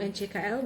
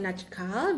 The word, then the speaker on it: NCKL: Ini saham NCKL bukan Najkal, bacanya NCKL aja, jangan dibaca Najkal.